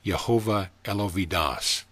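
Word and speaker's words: Jehovah Eloah va-Daath: color yellow or gold jehovah el ho vidas pronounced jehovah el ovidas moon changes in fluctuations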